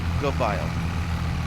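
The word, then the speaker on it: Göweil: it for me and he said it's the vile like good file but just go file I've heard two bile I've heard go wild I've heard who while the wheel I don't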